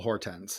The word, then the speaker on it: Hortense: Where am I putting the stress on that name? I put it on the first syllable. Hortense is what Hortense.